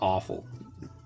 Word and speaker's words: offal: Pig's feet, stomach, tripe, intestine, all sorts of offal. You know, it sounds like the word AWFUL, but it's spelled OFFAL.